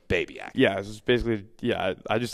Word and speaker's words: Babiak: first met you I I pronounced it babc I think is how I said it but I so it took me a month to get your name right but it's babc yeah basically yeah I